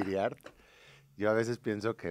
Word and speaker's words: Hiriart: Y hoy está conmigo Giriart. ¿Estoy pronunciando bien tu apellido? ¿O es Iriart? Pues es libre a quien lo vaya a pronunciar, Ah, es pero libre, bueno. sería Va. Iriart.